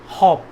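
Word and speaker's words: hope: ठीक है, सिर्फ ई लग जाने से ओ का साउंड बदल जाता है, लेकिन ई यहाँ पे साइलेंट रहता है।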